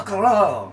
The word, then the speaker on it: Carrillo: They got, I'm going to butcher the pronunciation, I know I've heard it said, Roberto Carrillo. Roberto Carrillo. The guy, just roll lots of R's.